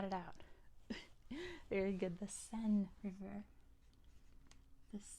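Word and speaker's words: Seine: out very good the sen River the sen spelled like this sen is how it's pronounced that's how it's spelled s i n e sen that is how you say it in French too it is the sen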